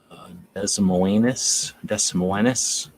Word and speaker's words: Des Moines: Des Moines. That's how that's pronounced.